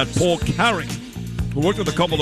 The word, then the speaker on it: Paul Carrick: Paul Carrick.